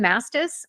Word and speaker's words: Mastis: l n DS y my last name mastis it's phonetic it's m s t